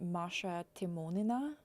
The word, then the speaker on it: Maria Timonina: And my name in Russian is actually pronounced Maria Timonina.